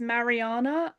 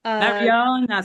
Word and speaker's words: Marijana: Um, my name is Marijana. Marijana, silent J. Got you. It makes like a Y sound.